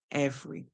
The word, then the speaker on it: every: So the R is making a sound and the E is silent. So we hear ev, r, and the Y at the end makes the E sound E, every.